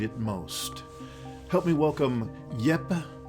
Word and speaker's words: Jeppe: Help me welcome Jeppe.